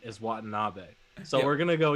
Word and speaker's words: Watanabe: i think we're i think we're on the pronunciation is watanabe so we're going to go you know what